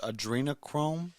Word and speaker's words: adrenochrome: and that's i think i believe it's pronounced adrenochrome yeah like that and um basically what